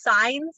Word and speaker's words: Sans: great uh Sans did I pronounce it it's signs like stop signs signs scientist